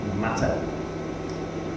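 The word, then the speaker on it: מטה: Hebrew word that's translated as Rod um it's pronounced matter and uh the verb root of the word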